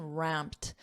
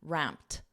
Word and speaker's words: ramped: up notice that pronunciation ramped because p is a voiced sound this Ed is pronounced as a soft T ramped ramped ramped up ramped up